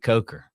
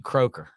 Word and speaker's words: Coker: So you got the president of the United States saying Jake Coker. Yeah. Did he pronounce it right? Like, we were in that golf tournament and they called you Croker.